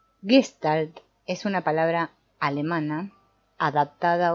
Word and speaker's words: Gestalt: Gestalt es una palabra alemana adaptada hoy día en el mundo entero, ya que no tiene equivalente exacto en otras lenguas. Hemos acordado pronunciarla como en alemán, Gestalt, también porque hemos acordado